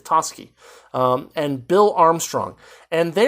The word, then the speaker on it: Toschi: guide for it, because I would have said like Toshi or something, but apparently it's Toschi, and Bill Armstrong.